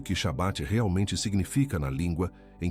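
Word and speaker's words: שבת: Em hebraico, Shabat. Pronuncie comigo Shabat. Duas sílabas, curta, densa, com o peso de decreto gravado em cada consoante.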